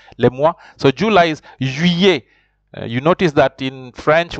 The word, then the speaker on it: juillet: So July is juillet. You notice that in French, when two L's follows an I, you have to pronounce them like a Y. So you say juillet.